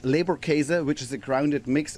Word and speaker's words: Leberkäse: We're going to make a called Leberkäse, which is a grounded mix of beef and pork. Leberkäse? How did I say that? Leberkäse, exactly.